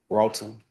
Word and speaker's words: Broughton: State versus Antoine Brotten. Am I pronouncing your name correctly? Brolton.